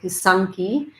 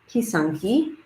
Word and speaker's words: pysanky: re-um retrain myself to instead of say kusanki um kisanki which i have been told is the more proper way to say it um and um is